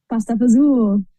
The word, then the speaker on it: pasta fagioli: Pasta pazul.